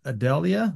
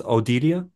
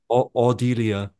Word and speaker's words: Audelia: artist name is Audelia. I think this would be the German pronunciation. So Okay. uh, Audelia.